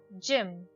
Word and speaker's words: gym: Gym. In the word gym, the letter G sounds J as it is followed by the letter Y.